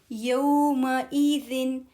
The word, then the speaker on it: يومئذ: عين اليقين ثم لتسألن يومئذ يوم E is E A E U Hamza sound, not A, not Ain here.